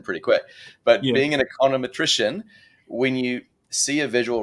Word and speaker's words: econometrician: econometrician or a condom is that how you pronounce it econometrician it is like that is hyponosis semantic satiation kicks in pretty quick but being an econometrician when you see a visual representation of data